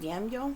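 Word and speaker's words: daimyo: by feudal Lords um I believe it's pronounced damiel what was called damel the Lords could have been called damiel d uh da i m yo okay for their Marshal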